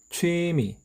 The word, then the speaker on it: 취미: 취미, 길게. 취미, 짧게.